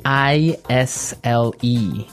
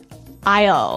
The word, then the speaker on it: aisle: i s l e Isle Isle it's a tricky word it sounds like the contraction of I will yeah but it's spelled so strangely right we don't pronounce the S the S is silent that's true Isle so